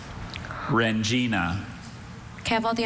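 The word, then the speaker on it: rendzina: Rengina. Okay. W-R-E-N-G-I-N-A, Rengina. Rengina is spelled R-E-N-D-Z-I-N-A.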